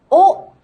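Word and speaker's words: を: with the particle o in the distant past the sound was actually wo but except for a few dialects we simply pronounce it as oh today on the other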